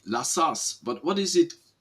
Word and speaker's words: La Sasse: I say La Sasse, but what is it? How do you spell it in French, in original?